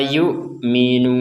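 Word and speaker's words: يُؤْمِنُونَ: La yukminun. Nah, ini panjangnya yukminun. Kita membacanya sampai enam ketukan atau enam harakat.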